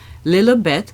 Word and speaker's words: Lilibet: Market this week is named after princess Elizabeth lieth is the way the princess pronounced her own name and let's not forget